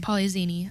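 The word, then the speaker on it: Polyxeni: seen x's in names and it's it it's pronounced with a like a z poly zini I like that um anyway so yeah they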